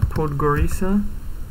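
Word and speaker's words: Podgorica: but no i knew it anyway sarajevo uh podgorisa that is how it's pronounced christina belgrade uh scorpio tirana okay i'll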